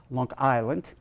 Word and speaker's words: Long Island: the off critical cooled New York pronunciation of Long Island with a heart G Long Island is one such example